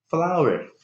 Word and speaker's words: flour: Sedikit mirip memang ya sama pengucapan dari bunga. Flour.